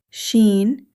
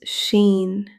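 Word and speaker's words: شين: This is sheen. The articulation of sheen is the middle of the tongue near the roof of the mouth. Air flows smoothly while pronouncing sheen. In English, similar to sh in ship.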